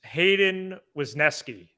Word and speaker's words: Hayden Wesneski: Yes, it is Hayden Wesneski.